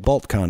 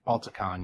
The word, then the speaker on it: Balticon: When you're out in, like at BaltCon, it's called, right? Balticon, yeah. Balticon, there we go. I knew I was saying it wrong.